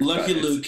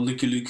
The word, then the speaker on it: Lucky Luke: we call liy Luke I was going to say it's Lucky Luke Lucky Luke if you pronounce it all correctly but you know Dutch Belgian people liy Luke is kind of how we say it anyway he is a